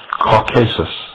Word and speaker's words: Caucasus: For his disobedience, Prometheus, like Lucifer, was chained and placed upon the brow of Mount Caucasus, or some pronounce it Caucasus, there to remain with